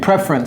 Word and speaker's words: preference: Ok, preference, c'est comme ça que ça se prononce. Your preference, your preference.